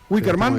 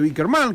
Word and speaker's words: Wicker Man: Sí, vos tenés mejor pronunciación. Wicker Man. Está muy bien, Wicker Man.